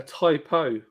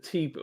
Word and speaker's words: Tipo: And when but when they pronounced it, they call it a typo. A type O. Yeah. That's how they pronounce it. And I was like, is that what it is? Typo instead of T-po? Well, like I've been calling it T-po forever.